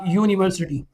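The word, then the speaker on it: university: For example मैं कहता हूं अ यूनिवर्सिटी यूनिवर्सिटी में स्टार्ट का जो साउंड है वो यू का आ रहा है।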